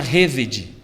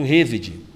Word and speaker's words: hesed: A palavra que misericórdia em hebraico é a palavra hesed. Tem até um instituto chamado Instituto Hesed, né?